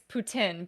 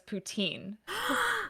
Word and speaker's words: poutine: Correctly, it's poutin, but I know everybody says poutine.